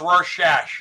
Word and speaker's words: Rorschach: It's pronounced Rorschach, huh?